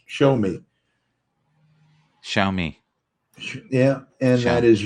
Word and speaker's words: Xiaomi: XIAOMI. It's pronounced show me.